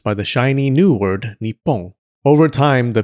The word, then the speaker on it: Nippon: Anyways, this new name was pronounced Nippon by the Japanese.